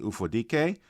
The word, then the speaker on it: Ufodike: And on today's episode, I have Tosi Ufodike. Please tell me I pronounced that correctly. You did.